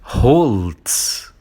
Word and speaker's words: Holz: Então, o nosso segundo sobrenome é Holz. Então, esse sobrenome significa a madeira e vem do alemão das Holz. Das Holz. Observando, né, que o H inicial ele tem esse som mais aspirado, né, e é uma palavra